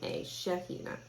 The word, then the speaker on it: Shaheena: one came from israel are you pronouncing it shaheena oh i spelled it wrong and it's actually two e's sorry about that thank you shira is shaheena s-h-a-h-e-e-n-a shahina thank you um so amala is a fantastic